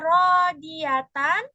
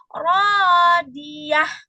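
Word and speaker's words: راضية: Kalau misalkan bacanya diwakafkan, maka cara bacanya yang tadinya harusnya rodiatan karena diwakafkan atau diberhentikan. Nah, tanda berhenti itu adalah tanda bulat ya. Kalau diberhentikan maka bacanya itu menjadi rodiah gitu.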